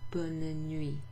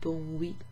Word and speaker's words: bonne nuit: remember to wish someone bonne nuit. Instead of bon nuit, well, bonne nuit, bonne nuit. You pronounce that N. There's two N's and an E in bonne nuit.